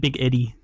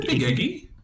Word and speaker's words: Big Eggy: Yeah, you said Big Eddie. I said Big Eggy. Okay. It sounds very similar. It does sound very similar. You got to really hit that G.